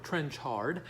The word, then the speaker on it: Trenchard: is Brian trenchard-smith scuzz I've mispronounced it before it's trench hard dead end driving oh